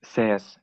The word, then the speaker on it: C's: In Finnish, "sees" it means serenity, but you can pronounce it, or it works in English as well. Sees, like someone sees something.